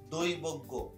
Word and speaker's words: দৈবজ্ঞ: নাসিক্যটা বজায় রাখার জন্য এখানে উচ্চারণও কিন্তু একটা কি হয়, নাকের সাহায্যে উচ্চারণ করা হয়, দৈবজ্ঞ।